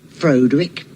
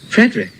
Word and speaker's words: Frederick: Do you also say Froderick? Oh, Frederick. Well, why isn't it Froderick Frankenstein? It isn't. It's Frederick Frankenstein.